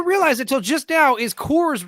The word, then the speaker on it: Kors: until just now is Kors rhymes with yours why doesn't that yeah